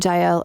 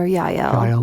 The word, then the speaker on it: Jael: Yes, you can say Jael or Yael with the Y.